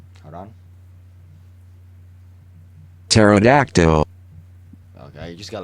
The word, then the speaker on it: pterodactyl: pterodactyl yeah it's LOD P silent hold on pterodactyl okay you just got like a robot AI